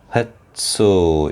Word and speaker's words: 횟수: 횟수, 이것도 역시 된 소리 나고, 셋빵하고 된 소리 나죠.